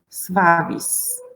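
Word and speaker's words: suavis: It sounds like svavis.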